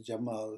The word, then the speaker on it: Cemal: this letter pay attention it's pronounced as the English J so for example if